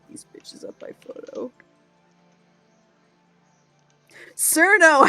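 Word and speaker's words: Chen: So Cherno, first of all, her name is pronounced Cherno, and I don't like it either, but it does lead to the best pun is that if she worked in a nuclear radiation facility, she'd be called Chernobyl.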